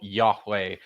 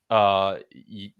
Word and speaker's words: Yahweh: And that's one of the mysteries still, is what this name, the name of this God, sounded like. I think the best bets are probably still Yahweh, or YeHoWaH. Seems to be a very likely candidate.